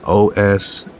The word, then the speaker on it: Oswiris: So they spell it O-S-W-I-R-I-S. What does that sound like? OSWIRIS. So you got the iris, right? And then you got the os. Osiris. Almost sound like Osiris.